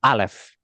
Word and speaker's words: alef: Ini kira-kira seperti silent letter. Ya, tapi umumnya orang menyamakannya dengan huruf A kalau di aksara kita, meskipun enggak persis, ya. Jadi, alef.